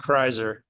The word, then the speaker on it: Kreiser: It's pronounced Kreiser.